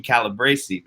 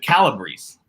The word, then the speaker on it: Calabrese: I actually think I've been calling her last name wrong. I've been calling her Calabrese because, it's Italian. But you said Calabrese. That's what she told me earlier, yeah.